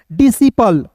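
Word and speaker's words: disciple: आई पी एल ई तो क्या पढ़ेंगे दोस्तों डिसिपल यहां पे दोस्तों एस के बाद सी जो है साइलेंट होगा तो डी आई को पढ़िएगा डी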